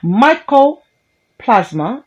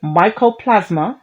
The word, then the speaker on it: mycoplasma: vocabulary god damn it michael plasma genitalium it's not micro myco mycoplasma genitalium is a little known